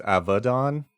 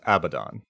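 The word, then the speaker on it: Abaddon: original Hebrew it is in Hebrew it's avadon but it's abadon so okay if you choose to say abadin or abdon both are correct okay so yeah I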